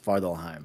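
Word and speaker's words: Svartalfheim: the dwarf realm correct svardalheim yes that's how you say it it's farthelheim i'm doing it based off of the mcu heard thor not horde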